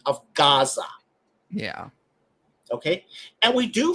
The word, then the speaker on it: Gaza: For example, Gaza. Yeah. Gaza doesn't begin with a gimel. It begins with an ayin, which today is a silent letter.